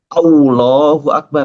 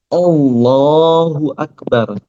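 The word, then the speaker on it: الله أكبر: Selain itu, kita nggak boleh manyunin. Misalnya pas ngucapin au ya, Allah. Allahu Akbar, salah. Yang benar Allahu Akbar. Allahu Akbar. Manyunnya saat ngucapin hu.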